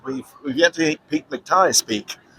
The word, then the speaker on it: McTighe: We've yet to hear Pete McTighe speak. Right. I think it's actually Pete McTee. We've been pronouncing his name wrong, because that's what McTee. Pete McTee. You can tell. You know it because it rhymes.